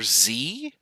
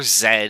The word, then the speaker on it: Z: protons the atomic number z or zed if you're canadian like me it's like the only non-canadian thing i do is uh i don't call it zed because it doesn't rhyme with the end of the alphabet song right q r s t u v w x y z if you go w x y z it just sounds stupid so sorry canada you